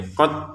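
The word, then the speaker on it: قد: Untuk dalnya kita masukin ke ta langsung ya. Qad tabayyana. Jangan qod.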